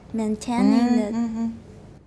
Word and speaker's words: maintaining: If you see AI in spelling, usually it's pronounced. Right, exactly, you got it. While maintaining. But you didn't say A, you said E, you said men.